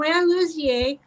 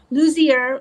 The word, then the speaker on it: Lussier: Today, we are going to learn from Luzier. Luzier. I I knew I would do that. That's okay. You got the French pronunciation.